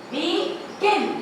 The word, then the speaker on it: begin: Now when the stress is on the second, begin, begin. I am stressing on begin.